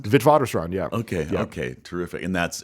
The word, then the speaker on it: Witwatersrand: And is this, if I'm saying it correctly, Witwatersrand? Witwatersrand, yeah.